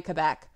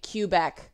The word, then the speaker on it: Quebec: 33 people have died in Quebec or as Americans say Kubek and we don't bust